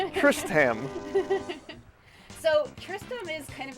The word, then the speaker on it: Tristam: Tristan. You know what? I'm just going to wait for his name to pop up, and I'll say it right. Tristam.